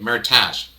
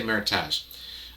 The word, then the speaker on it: meritage: percent cat frog so meritage uh i'm not saying it right meritage i should say meritage uh meritage is um